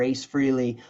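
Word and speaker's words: Frehley: shows opening up for Ace Freely um Ace Frey Ace Freely I know people say you say his name wrong just disclaimer I've been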